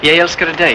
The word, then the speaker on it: Jeg elsker deg: Jeg elsker deg. It's the extra syllable that gives it the emotion.